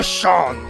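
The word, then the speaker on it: Seam: Se pronuncia Sean.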